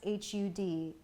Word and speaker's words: Har: So the Har is actually pronounced H-U-D, like Hud. So this mantra will actually sound like Hud, Hare, Hari, Wahe, Guru.